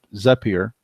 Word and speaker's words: Zapier: with services like zip zapier which allows us a peer and I pronounce it but it allows you